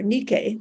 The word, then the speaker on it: Nike: victory and you know the Greek word for victory is Nike n-i-k-e or Nikkei they would pronounce that's the name of